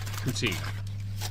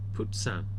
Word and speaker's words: poutine: Oh, you ordered poutine. But, OMG. Alright, this is the legendary Poutine. Oh my gosh. Wait. It's legendary. What did you call it? Poutine. Poutine.